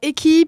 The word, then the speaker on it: Echy: Alors, EQI, pour la petite histoire, ça s'écrit ECHY, et c'est la contraction d'éclairage hybride.